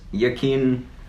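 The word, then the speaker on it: Joaquin: he chose an upcoming movie Joker yeah it's yaqeen Phoenix is how I think you pronounce the actor's name yeah and I'm so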